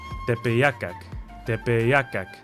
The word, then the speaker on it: Tepeyacac: Tepeyacac. Again, this could be another typo. It's more accurately spelled with a Y in between the E and A.